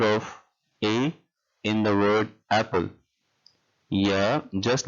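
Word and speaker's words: عين: Ain, just like the word Ain is pronounced in the name Einstein. So Ain as Einstein.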